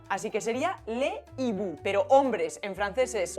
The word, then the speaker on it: hibou: Pues esa S no se pronuncia porque esa H impide la liaison, así que sería le hibou.